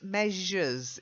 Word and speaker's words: measures: It's that j sound in the middle. Measures. Measures. Not measures. Measures. Try saying je. Measures. I'll give you the text. You're saying measures, and that's not how it's pronounced. It's me, and it's like a Z and an H being put together.